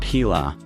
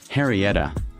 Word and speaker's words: Henrietta: And now 75 years later, we say her name, not Heila, Harrieta.